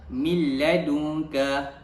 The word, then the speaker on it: min ladunka: Jadi bacaannya ialah min ladunka. Min ladunka. Apabila nun mati bertemu dengan huruf lam, jadi cara bacaannya ialah memasukkan bunyi nun mati tersebut ke dalam huruf lam tanpa dengung.